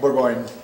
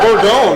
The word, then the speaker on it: Bourgogne: What French word do Americans in the Willamette Valley mispronounce more than anything else? Like what really grinds your gears? What is it? Bourgogne. Bourgogne. Bourgogne. Bourgogne. There we go. It's Bourgogne, right?